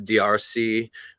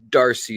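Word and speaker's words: D'Arcy: was born and uh it it's spelled d apostrophe a rcy so it's drc french officially but darcy is what it's anglicized as so darcy uh born in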